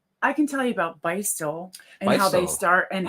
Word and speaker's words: Beistle: yeah, Beistel. I mean, you're going to see a lot of that name, and it's spelled Beistle, and you'll see that here in